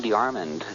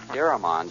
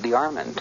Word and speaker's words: Deyarmond: mother's maiden name and he pronounced his name de arand um a lot of people um we we've only known uh known him as AB deramond it's it's the way everyone is pronouncing it but he pronounced it the arand yes and uh that's the way I always heard it pronounced so is that